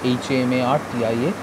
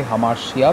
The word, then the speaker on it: hamartia: Number one is hamartia, H-A-M-A-R-T-I-A, and don't ever say hamartia because the Greeks could not pronounce T as S. Alright, S-H. So it's hamartia, not hamartia.